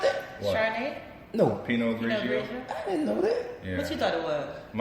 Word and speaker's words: Pinot Grigio: That's how you pronounce that? What? Chardonnay? No. Pinot Grigio.